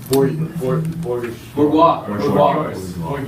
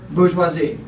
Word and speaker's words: bourgeois: Bourgeois. Bourgeoisie. Oh, It's spelled weird.